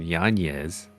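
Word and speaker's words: Yáñez: And then in the bantamweight division, Jonathan Martinez, nasty leg case on Adrian Yanez. Apparently that's how you pronounce his last name.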